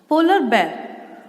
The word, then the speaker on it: polar bear: पोलर बेर, पोलर बेर, हम इसको बियर नहीं बोलते, We call it, pronounce it polar bear.